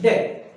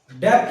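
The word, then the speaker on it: debt: पे लिखता हूं मैं, क्या लिखा हुआ है, डेट। डेप्ट नहीं होना, डेट, डेट।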